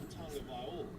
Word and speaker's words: Tagovailoa: Tua Tagovailoa, just like he said it, just how Tua said it.